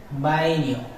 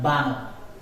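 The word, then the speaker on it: baño: I used this letter in the middle. Bainio, not Bano. Bainio. Ainio, not Ano. Ainio. Because this letter pronunciation is Eine.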